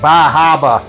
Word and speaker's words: Bar Harbor: juice this is the Bar Harbor my wife was from Right Around Bar Harbor I think up there they pronounce it like Baba or something like that so no I don't